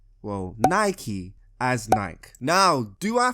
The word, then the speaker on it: Nike: see this right here that's called a bike not a bikey a bike anyway after she said